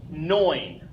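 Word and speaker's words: neun: we have our EU letter combination and like I mentioned before that makes the always sound so we have knowing knowing is the number nine next ten same same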